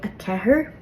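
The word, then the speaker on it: a ceathair: Now, some people will say a kahir, and by all means, while you're learning to say a slender R, and you need to say 4, say a kahir. But I would really recommend working on saying the true slender R.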